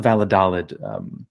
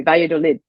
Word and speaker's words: Valladolid: Yeah, I have to confess, I wasn't sure if I should use the Spanish pronunciation. I was thinking of Vaya, right. But I didn't want to seem pretentious, so I bungled it, and I bungled it in the normal English manner.